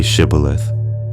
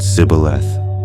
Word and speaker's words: Shibboleth: If he said, "No," then they said to him, "Now say Shibboleth." And he said Sibboleth, for he couldn't manage to pronounce it correctly.